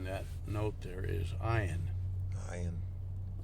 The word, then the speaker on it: Ayin: Ayin. Ayin means I. It's a silent letter, right?